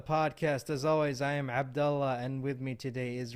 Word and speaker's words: Abdullah: pronounce it again the way you you would pronounce it Abdullah Abdullah Abdullah yeah okay we go it's a minor